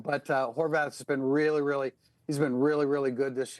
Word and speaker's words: Horvath: trying to confuse Blake Horvath. It's pronounced Horvath in South Bend, actually. A South Bend Hungarian name. But Horvath has been really good this year.